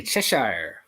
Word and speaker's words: Cheshire: in Oz we say Chesire Chesire like it rhymes with press uh like it rhymes with press here in Oz we say Chesire like it rhymes with press chesher chess like chess